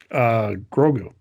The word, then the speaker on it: Grogu: So the last thing we're going to leave you guys with is, Greg, how do you pronounce Baby Yoda's name? Grogu.